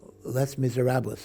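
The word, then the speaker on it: Les Misérables: they wanted to put on a Broadway musical Les Miserables that's how you pronounce it and they wanted women to sing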